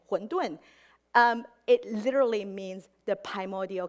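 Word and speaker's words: 馄饨: In Mandarin, they also pronounce pretty much the same, 馄饨.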